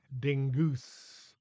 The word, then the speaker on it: Dingus: Madame Dingus, aka Angela Dingwhopper, had gone to school with Pam's folks, changing her name to Dingus, thinking it sounded more exotic, as she pronounced it Dingoose, then Dingwhopper, then changed it back once she had been eaten by the giant onion.